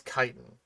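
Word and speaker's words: chitin: Kitan. Okay. A lot of people have a a pretty hard time pronouncing kiten when they just read it apparently. Um, but it is kitan though. Like c h i t i n. That's kitan.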